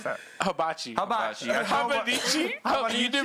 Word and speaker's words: hibachi: I show up with fucking Japanese cuisine, habanichi or habana. How do you pronounce that? Hibachi.